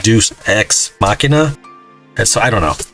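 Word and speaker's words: deus ex machina: i can say deuce i think it's pronounced like deuce ex machina and so i don't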